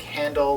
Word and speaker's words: Handl: Now, in case you're wondering if that's spelled like handle, like a thing you hold a briefcase with, or Handel's Messiah, well, you're both right.